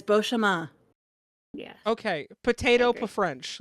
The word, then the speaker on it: Beauchemin: Beauchemin. You did. There's no N. It's fucking French. There's no N, Chris. I will fight you today, D. I'm telling you, there's no N in French. It's Beauchemin.